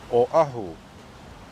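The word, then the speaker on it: Oʻahu: that were filmed there this island name is pronounced Oahu or a known as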